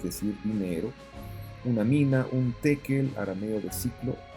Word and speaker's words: tekel: En hebreo, la palabra se escribe con una shin y se debiera pronunciar con esa sh, shekel. Pero en arameo, usualmente se cambia la shin por la taf, y por eso escuchamos no shekel, sino tekel, tekel o tekel.